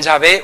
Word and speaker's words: Yahvé: tener efectos de hecho para poder pronunciarlo hay que intercalar vocales que es de donde sale o bien yahvé o bien Jehová no según donde las intercal demos y los lo pronunciemos y luego Bueno pues el